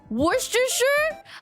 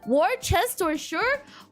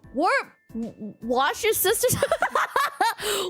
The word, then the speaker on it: Worcestershire: Worcestershire? Wash your sisters.